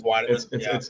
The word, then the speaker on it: Weidemann: Weidemann. It's Weidemann. It's Weidemann. Yeah. Honestly, I've given up on you spelling or pronouncing names right a long time ago.